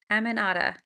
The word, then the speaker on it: Aminata: Did I say that right? Aminata? I'm so glad y'all are here. Happy Friday. Okay, good. I'm glad I got it right. Aminata.